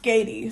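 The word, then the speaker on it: Skaði: of cool it is cool but um it's pronounced skatey so yes skedy was depicted as a joatin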